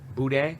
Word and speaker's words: boudin: literally told you just don't say the N. If it makes you feel Boudin. better, Boudin. Boudin.